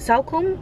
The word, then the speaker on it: Salcombe: coast kind of where i don't have to pronounce it salcombe is how you would pronounce it cellphone selkins i'm not